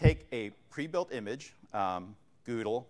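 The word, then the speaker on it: GDAL: a pre-built image um goodle which is the proper way to say it because Frank told me that is the way to say it um not gll okay so Google we're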